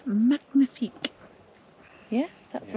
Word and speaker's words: magnifique: As the French would say, magnifique.